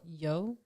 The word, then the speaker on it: Yeoh: Yeoh. So there was a post that came out. I saw this on Twitter, and it was of Michelle Yeoh, and it said that Michelle Yeoh is the second woman of color to ever